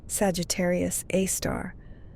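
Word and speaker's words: Sagittarius A*: The Milky Way's supermassive black hole, called Sagittarius A, pronounced Sagittarius A star, has a mass of about 4 million suns.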